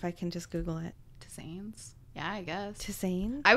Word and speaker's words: tisanes: to drink one of his, what is it, tistanes? How do you say that? Yeah. You're the hippie. Where's the word? Tisanes.